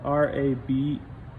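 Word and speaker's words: rabbet: other things rabbit joints it's spelled r-a-b-e-t and it's pronounced rabe it's a french word but what a rabbit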